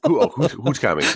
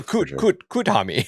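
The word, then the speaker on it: Kuthumi: Hootkami. Yeah, Hootkami. No, Kutami. Yeah. Kutami. I like it's spelled 2 different ways.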